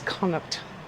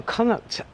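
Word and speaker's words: Connaught: This gorgeous little place known as Kuck Village. Now, Kuct is spelled C O N A U G H T. It's actually in Irish. It's one of the provinces of Ireland.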